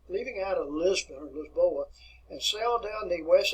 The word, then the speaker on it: Lisboa: lisbon is a town if we want to pronounce it in portuguese it's lisboa this board and the